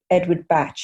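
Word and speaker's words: Bach: I haven't done training in he's actually Edward Batch. He was Welsh. Yes, that's it. This is how we pronounce his name.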